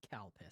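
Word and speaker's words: Calpis: changed to calpico uh because they didn't want to put CPUs on a bottle because the only way to pronounce it is CPUs so I'm drinking CPUs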